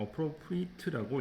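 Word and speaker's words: appropriate: 어프로프리에이트라고 일정 어프로프리트라고 읽어야 됩니다.네 형용사하고 동사가 좀 발음이 다르기 때문에 어퍼로프트라고 있는게 좋겠습니다.이 세 단어가 동시에 나와 있기 때문에이 세 단어를 잘 구분하셔 가지고 통째로 같이 외우시면 되겠네요.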